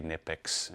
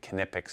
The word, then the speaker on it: Knipex: you do say it, you do pronounce the K from what I understand. You could say Knipex, you know, but Knipex is how they pronounce it here in the US.